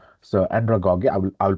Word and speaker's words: andragogy: A lot of people they pronounce it andragogy. So andragogy, I will pronounce it andragogy.